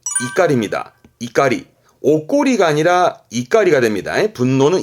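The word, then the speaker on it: 怒り: 이유는 요거를 명사화 시켜서 분노를 말할 때 이때 발음은 이가리 이까리 오꼬이가 아니라 이갈이가 됩니다 분노는 이까리 뭐 분노를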